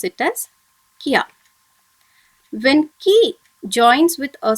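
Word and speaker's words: きゃ: Okay, this together should be pronounced as kya. Okay, when this ya is written smaller beside the consonant ki, you have to pronounce it together as kya.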